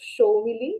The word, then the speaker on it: Soumilli: Just that my surname and my name pronunciation is a little bit complicated. It's Soumilli, everyone, guys, if you're mistaken.